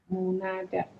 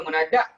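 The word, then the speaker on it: مُنادى: Munada. Ayo. Dipanggil sebagai nama dia nada. Ejaan ni. Dia basah dengan wet one nanti koyak. Dia tak boleh yang basahkan. Nida ni. Ada Munada. Bukan munadak, munada.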